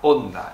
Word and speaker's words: Honda: palabras transcritas del japonés, la H es muda como en español, porque Hiroshima tiene una H al principio y no se pronuncia.